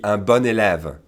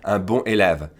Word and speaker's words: bon élève: begins with a vowel, make sure you pronounce it like the feminine, okay? So a good student, for instance, would be un bon élève.